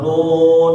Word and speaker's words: ن: Ini bacanya gimana? Na atau nun atau gimana, Pak? Nun. Ya, nun gitu loh ya.